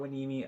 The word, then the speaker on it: Hueneme: So like Port Hueneme out here. I've never heard that shit. Yeah, it's spelled like Hueneme, but it's right by Oxnard.